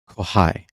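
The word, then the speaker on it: kxhai: have to say that's by k x h a i pronounced kohai sick Nano chip let's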